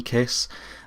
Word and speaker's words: Kaees: uh Landmark clearomizer from Kiss uh it's spelled k a e e s uh but it's pronounced kiss uh so it comes